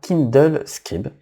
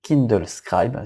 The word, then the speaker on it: Kindle Scribe: Donc c'est l'annonce de la liseuse grand format Kindle Scribe, ou Kindle Scribe si on prononce en anglais.